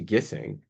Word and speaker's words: Gissing: when we move to when we move to gissing uh gissing gissing How I don't know even I think so.